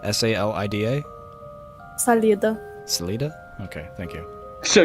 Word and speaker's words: Salida: immediately clicked off the ad how do you pronounce it Salita s-a-l-i-d-a Salida okay thank you so you do know